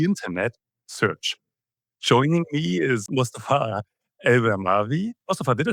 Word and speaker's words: Mustafa Al-Bermani: Joining me is Mustafa Al-Bermani.